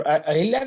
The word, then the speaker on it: अहल्या: क्या हो गया तो अहिल्या, तो ये शब्द है अहिल्या, अहिल्या नहीं है। कई बार हम अहिल्या लिखते हैं, ह पर ई की मात्रा नहीं है, तो करेक्ट स्पेलिंग अहिल्या। मैं हमेशा इसको अहिल्या लिखता था। फिर आप जैसे किसी विद्वान ने बताया कि नहीं अहिल्या नहीं है, अहल्या है।